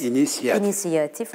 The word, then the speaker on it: inisiyatif: de değil mi Eee orijinal inisiyatif mesela oralardaki iyileri de atıyoruz atmamalıyız söylerken orijinal Evet inisiyatif o iyileri telaffuz etmek gerekiyor Mesela entel entelektüel deme